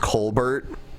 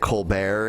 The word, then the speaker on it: Colbert: The O'Reilly Factor and found out that his name was originally pronounced Colbert which is like an Irish name but instead he pronounces it colar and he's like why'